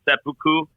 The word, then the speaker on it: seppuku: I'm probably about to massacre how you actually pronounce it. It's seppuku.